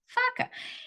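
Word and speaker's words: faca: looked at me because that's how you say it in Portuguese f a CA faka and they're like no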